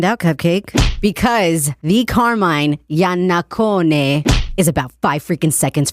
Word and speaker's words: Iannaccone: I guess we're going to find out, Cupcake, because the Carmine Yanakone is about five freaking seconds from calling in right now.